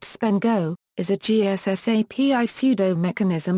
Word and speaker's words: SPNEGO: Simple and protected GSSAPI negotiation mechanism often pronounced spendo is a GSSAPI pseudo mechanism used by client server software to negotiate the choice of security technology.